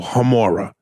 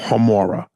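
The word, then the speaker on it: Gemora: and love jamora the G is pronounced like a h o homura wolf hamora Instagram is at w-o-l-f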